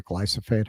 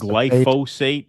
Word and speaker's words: glyphosate: I don't know how you don't say glyophate. How do you say it? I think it's glyphosate. Is it fosate instead of phate?